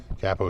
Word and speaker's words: capo: was van halen capo is the actual pronunciation from the italian word capo for a top which is